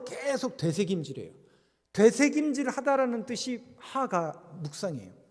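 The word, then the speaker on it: הגה: 하가. 따라해 보시라니까요. 하가. 하가 이렇게 읽는 게 아니라 하가라고 읽는 게 묵상이라는 단어예요.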